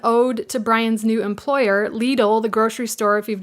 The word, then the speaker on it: Lidl: in your local area l-i-d-l I thought it was pronounced Lytle but it's pronounced Lidl anyways he brought these